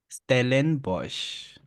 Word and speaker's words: Stellenbosch: Stellenbosch. Repeat now slowly. Stellenbosch. Oh, Stellenbosch.